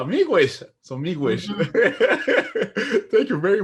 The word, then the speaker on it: Miigwech: Miigwech. Miigwech. Miigwech.